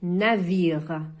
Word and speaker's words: navire: Quand je lis, عندما أقرأ, je dis navire. هنا ال E في اللغة الفرنسية يكون صامت لا يقرأ.